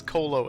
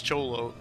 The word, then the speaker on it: Cholo: Pritchard is culturally ignorant, so he doesn't know how to pronounce Cholo, so he says Colo, and Adam is like, by the way, it's Cholo.